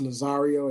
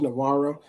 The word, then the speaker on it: Nazario: I've been pronouncing his name incorrectly. It's Nazario, as you stated. I said Navarro, but it's Lieutenant Nazario.